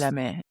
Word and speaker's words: Chalamet: Like, I saw a video of Timothy Chalamet. Is that how you pronounce his name? Yes, He's by just like, Timothée yes, Chalamet.